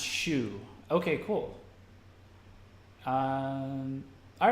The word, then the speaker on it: SYU: I can drop them I think it's pronounced shoe okay cool all right